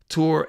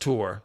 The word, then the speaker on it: Tours: Tour and it's you don't pronounce the S. It's just Tour. So, sorry French people. Tour.